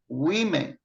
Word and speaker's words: women: A for e but the pronunciation is no woman is women women remember what is the